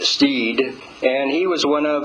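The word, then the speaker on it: Stead: His name is William Steed, spelled S T E A D, but pronounced Steed.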